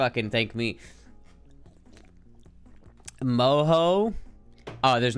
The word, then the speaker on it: mojo: and you should thank me moho oh there's not a chance in hell I'm ever gonna say moho uh if I ever ordered pork Mojo I'm